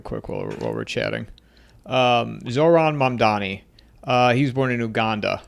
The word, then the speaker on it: Mamdani: I can never pronounce it, but I'm going to look it up while we're Mamadani or something. Yeah, it's Mamdani.